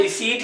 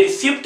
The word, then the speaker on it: receipt: हाँ ये रिसीट ही है दोस्तों, ये रिसिप्ट नहीं है। रिसीट पी यहाँ पर साइलेंट चला जाता है, ये रिसीट बन जाता है रिसिप्ट की जगह पर, तो पी साइलेंट पे चला।